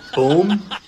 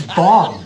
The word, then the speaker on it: bomb: You know, you don't see how So if this word is tomb, then this word would be it would be boom. No, it's bomb.